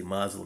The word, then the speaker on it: Muslim: I say Muslim because that's the way it's spelled.